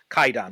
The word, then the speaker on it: 怪談: So, but in modern pronunciation, it's actually pronounced Kwaidan without the W.